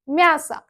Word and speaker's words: мясо: O şəkilçisi ilə bitir yazılışda. Мясо yazırıq. Amma vurğusuz olduğu üçün tələffüzdə A səsini verir. Мясо.